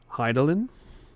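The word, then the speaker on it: Hydaelyn: Vanette, Heart of I butchered it earlier. Hidelin.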